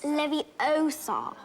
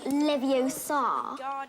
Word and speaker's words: Leviosa: someone's eye out besides you're saying it wrong it's leviosa not leviosa you do it if